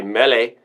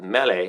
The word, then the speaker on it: Mele: means Mary I guess CU Hawaiian would say melee like Mele Kiki Maka um but they um yeah they pronounce it melee because no RS in Hawaiian anyway that's a